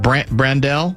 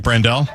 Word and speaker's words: Brandel: And so now you might put, is it Brandel? How you pronounce it? Yeah, Blake Brandel.